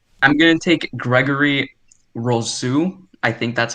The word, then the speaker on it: Rousseau: I'm going to take Gregory Rousseau. I think that's how you pronounce it.